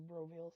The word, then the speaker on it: BROveal: Like veal, like the food.